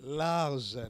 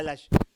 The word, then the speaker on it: large: Parce que il faut prononcer bien. Large. Il faut pas lâche.